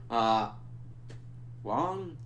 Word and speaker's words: Wang: And we also see that this Wong, they pronounce it Wong even though it's spelled Wang. I don't know.